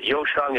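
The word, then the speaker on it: 优生: have perfect children uh yosang is how you say it in Chinese they want Superior birth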